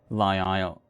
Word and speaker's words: isle: Okay, so it's a Isle. Something like this. Thanks for the hint. The S is silent, like isle, like the word isle.